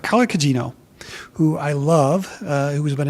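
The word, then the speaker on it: Carla Gugino: Carla Cugino. I sometimes mispronounce her name, so I wanted to make sure I got that right. Carla Cugino, who I love, who's been in so many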